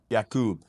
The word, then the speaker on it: Jakub: So the U is O, right? Oh, okay, yeah. The U is okay. So Jakub? Jakub. Yeah. That is the proper way. Jakub or Jakub?